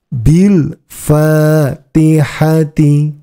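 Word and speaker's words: بالفاتحة: walasri walasri walfajri walfajri Bil faatihati Bil fatihati ingat huruf alifnya dianggap tidak ada bagi sobat sekalian yang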